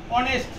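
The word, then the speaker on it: honest: যেমন এখানে দেখো অনেস্ট, সরিও আসছে এখানে, তাহলে এখানে এন হবে।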